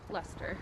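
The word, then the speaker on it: Leicester: cash only sign there so how do you pronounce the name of the town Lester Lester so Cinema one over there Cinema 2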